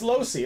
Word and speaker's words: Loesch: I used to call him Loesch too. And then he told me how to pronounce it. It's Losey.